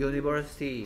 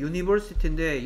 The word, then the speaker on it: university: 뭐 당연히 at a university 해야 되겠죠. 자, 얘 발음이 university인데 얘 정확하게 발음 기호를 쓰면 어떻게 되냐?